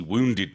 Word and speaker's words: wounded: wounded than injured okay wounded this is not an easy one for English Learners to pronounce oh yeah because we we don't we don't use that that woo sound yeah we have but we don't have woo where is wounded open